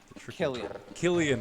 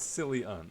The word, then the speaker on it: Cillian: know you know planets that silly on green killian murphy that's right not silly on cillian killian that's right well yeah that's an irish name